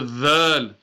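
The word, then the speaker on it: ذال: Tip of the tongue, yani slightly from the top of the tip of the tongue, touching the top part of the inside of the teeth.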